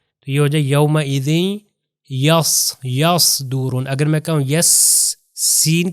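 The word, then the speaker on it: يصدرون: اگر میں کہوں یصدرون تو اس کا مطلب ہے کہ زبان پیچھے سے اوپر جا رہی ہے اور موٹا تلفظ ہو رہا ہے.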